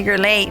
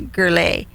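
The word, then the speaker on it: Gurule: your name down tony gurley and i spelled it g-u-r-l-a-y yeah totally off the mark right and so your last name is spelled g-u-r-u-l-e it's like this energy drink here guru so i could tony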